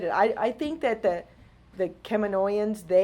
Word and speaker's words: Kaminoans: when they first did it, I think that the Kaminoans, I said that right this time. The Kaminoans, I think of David and I think of how he says it, and he's like, "You're saying it wrong.